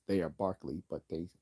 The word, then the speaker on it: Berkeley: Barkley was Scottish so he produced he is pronounced they Barkley but they call it Berkeley after the you know just like David Hume